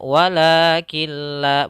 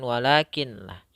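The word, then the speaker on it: ولكن لا: Jadi kami membacanya sebagai "walakilla." Bukan "walakin la," tetapi langsung ke "lam."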